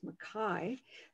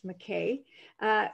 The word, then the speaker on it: McKay: if that's pronounced correctly my name is makai but more people pronounce it as mckay is wondering uh if